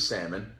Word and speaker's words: salmon: kid was obsessed with salmon always had a Rubik's Cube on and I would say there's an L in there and I said I know but the L is silent she said says who